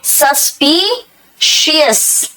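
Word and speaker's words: suspicious: बेटा सस्पिशियस, देखो कैसे बोलोगे, सस्पिशियस, श होता है बाद में, सस्पिशियस।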